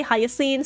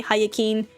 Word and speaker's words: Hyacinth: pronounced in English, but the C in Hyacinth has an S sound instead of a K sound.